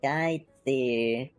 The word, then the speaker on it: Skytzy: If you guys are having a hard time to pronounce it, it's Skytzy. I get called different things at times because people just don't know how to say it, but it's okay.